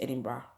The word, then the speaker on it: Edinburgh: It's spelled Edinburgh the way you pronounce Johannesburg, but please the pronunciation is Edinburgh. So Edinburgh is the capital.